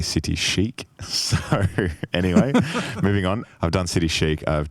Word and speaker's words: City Chic: yes so I did City Chic which I was politely reminded by one of our community members the other week that I had been pronouncing it City Chi and uh apparently City Chic so anyway moving on